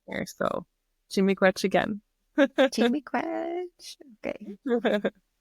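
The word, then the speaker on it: Chi-miigwech: Chimigwech.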